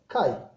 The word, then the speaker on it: chi: Let's start our next topic, electronegativity, which is represented by symbol En, or sometimes we write X, which is pronounced as chi.